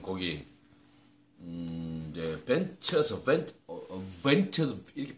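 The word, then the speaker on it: The Ventures: 자, 방금 제가 이제 그이 통기타로 한번 두드려 본 곡이 이제 벤처스 벤처스 이렇게 발음해야 되죠.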